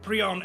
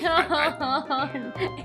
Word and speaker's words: Piorun: It's not I think. Prion. It hurts me when he says that. If it's spelled like Piorun. There is no R in front of I, and he's saying Prioun, right? He's switching the letters.